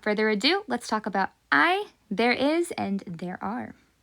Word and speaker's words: hay: And yes, it is pronounced I, not hey. Okay? So you've heard it here. I should never hear it pronounced as hey.